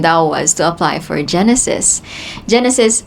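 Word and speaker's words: JENESYS: Genesis spelled as j e n e s y s.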